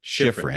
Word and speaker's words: Schifrin: Former NPR journalist Deborah, if I'm saying it right, Schifrin. Schifrin.